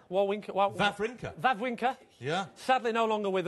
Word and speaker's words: Wawrinka: Then I just watched, I can never pronounce it, Wawrinka? Wawrinka.